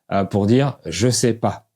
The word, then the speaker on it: ché po: Par exemple, le son A se prononce O et ils diront « je sais pas » pour dire « je sais pas ». Pour dire un chien, ils disent un quien.